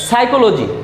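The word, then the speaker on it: psychology: সাইকোলজি, সাইকোলজি বানানের প্রথমে ফি আছে, সাইকোলজি শব্দের অর্থ মনস্তত্ত্ব, এখানে পি এর উচ্চারণ হবে না।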